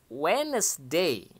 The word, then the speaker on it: Wednesday: artinya hari Selasa kemudian Wednesday ya biasanya huruf d yang ada di tengah ini tidak diucapkan Ya Diaz Thailand sehingga langsung terdengar Wednesday ya Wednesday partynya hari